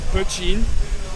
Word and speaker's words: poitín: Et en Irlande, on l'appelle poitín. Okay. Donc c'est un mot gaélique. Ça s'écrit P-O-I-T-I accent aigu N.